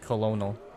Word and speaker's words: colonel: In those like it sounds like colonel. Yes, pronounced colonel.